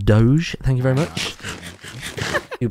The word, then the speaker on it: Doge: the doggy ones oh dodge it don't it's pronounced doge thank you very much